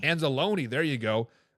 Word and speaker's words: Anzalone: aono or something that you you are probably anzalone anzalone there you go how big of loss do